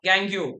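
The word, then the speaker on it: gangue: Then they will ask you gangu or gang. Different pronunciations are there. Gangu, gang both are same.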